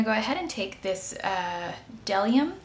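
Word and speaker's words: Bdellium: I'm going to go ahead and take this Delium, I believe the B is silent, Delium Tools number 990.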